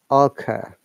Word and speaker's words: occur: Let's take the word O-double-C-E-R, occur. Here we have two vowels, schwa sound, eh, and a, occur, which are divided by the consonant sound K. So, I'm making it occur. This is two syllable word.